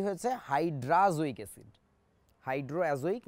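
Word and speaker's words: hydrazoic: বাদ দিলে কি হয়েছে, হাইড্রাজোইক অ্যাসিড। হাইড্রো অ্যাজোইক না বলে একবারে আবারও বলছি হাইড্রাজোইক অ্যাসিড বলছি আমরা। এটাকে আমাদের বইতে লেখা থাকে হাইড্রোজোইক, উচ্চারণটা আসলে হাইড্রোজোইক না, হাইড্রাজোইক অ্যাসিড।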